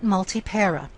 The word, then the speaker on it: multipara: So it is not multipara. Multipara. Multipara. So that P wishes to be at the end of a syllable. It does not want to start a syllable.